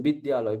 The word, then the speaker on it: বিদ্যালয়: এবার এখানে আমাদের প্রশ্ন থেকেই যায় যে আমি বটাকে আমি বর্গীয় উচ্চারণ করব না অন্তস্থ উচ্চারণ করব? বিদ্যালয় বলব না বিদ্যালয় বলব? ঠিক আছে? সংস্কৃত কিন্তু এসব কিছু নেই। সংস্কৃত এরকমই লেখা হবে। বিদ্যালয়। সেখানে পরিষ্কার আমাকে বলেই দিল যে এখানে অন্তস্থ বয় বলতে হবে।